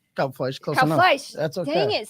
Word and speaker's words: Kalbfleisch: am going to do my best to properly pronounce his name the right way. So Ismael Yes. Kalbfleisch. Kalbfleisch, close Kalbfleisch.